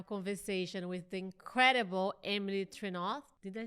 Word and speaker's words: Trenouth: Today, I'm so excited that I'm going to have a conversation with the incredible Emily Trenouth.